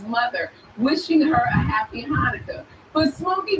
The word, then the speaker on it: Hanukkah: Like the CH in Hanukkah is sounded out to ha.